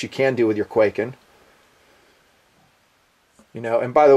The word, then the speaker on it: Kwaiken: can do with your quaking you know and by the way you saw the spell that and I hope I'm saying it right it's k w a i k n not like earthquak and but the other one